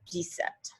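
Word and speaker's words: dix-sept: so really this is directly translated is 10 7 17 decept 18 is very similar di sweet 19 is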